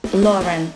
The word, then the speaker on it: Lauren: лари сейчас и пройтись lauren lauren общем ударение на 1 а не на второй слог брал из следующий бренд